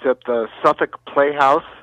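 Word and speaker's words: Southwark: Yes, it's at the Suffolk Playhouse, which is spelled South, South Wark, Wark. Oh. But all those Brits, they pronounce it Suffolk.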